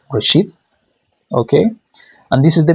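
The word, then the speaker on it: רֵאשִׁית: to write this word in Hebrew, and it's pronounced Reshith.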